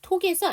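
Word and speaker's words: talk: 톡에서 L운드 무음. AL로 끝나는 단어는 제가 알사운드 묵음이라고 했어요.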